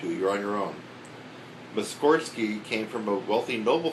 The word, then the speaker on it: Mussorgsky: He always pronounced his name Mussorgsky, with the accent on the first syllable. Oh, Mussorgsky. Nobody ever listened to him, and today we all pronounce it Mussorgsky, which sounds right to us.